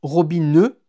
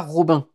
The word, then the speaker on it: Robin: Ça se prononce Robineux, pas Robin, d'accord?